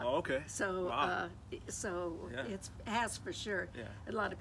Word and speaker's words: Hass: so uh so it has for sure a lot of people say hazardous a-s-s does not spell Oz yeah it's not Haws it rhymes with pass or mass a-s-s yes yes it's